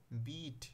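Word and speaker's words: beat: অল্প উচ্চারণ হচ্ছে এবং পরে দেখো বিট বি ই এ টি এখানে কি হস্টা দীর্ঘ উচ্চারণ হচ্ছে জাস্ট এতটুকুই তোমাদের এখানে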